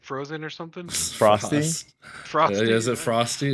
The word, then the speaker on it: Froste: Frosty? Frost. Frosty. Is it Frosty? Is that how you Yeah.